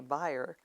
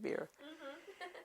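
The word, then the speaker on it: Bier: married to Jacob beer well I guess now they call say buyer it's spelled bi er and German we always spent called it beer and then there was my mom mrs.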